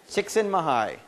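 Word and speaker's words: Csikszentmihalyi: but no uh someone up here said it's chicksen mahai chicksen mahigh that's how he pronounces it yeah yeah um chicken Mii um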